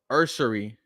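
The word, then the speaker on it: Ersery: I wonder if if you know if Urs I got to pronounce his name correctly. It's um Ursery Ursery.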